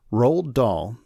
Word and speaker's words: Roald Dahl: but let's talk about him from scratch right rol doll whose name is spelled r o a l d uh R